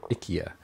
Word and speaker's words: IKEA: um have i eaten ikea meatballs or ikea as it's supposed to be pronounced apparently um i don't like